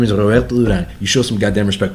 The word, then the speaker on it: Roberto Duran: Roberto Duran? Roberto Duran. You fucking said it right.